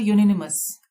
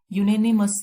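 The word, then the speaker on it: unanimous: उसके बाद है यूनिनिमस। यूनानिमस, इसकी प्रोनाउंसिएशन यूनानिमस है, सर्वसम्मत जिसको हम बोलेंगे।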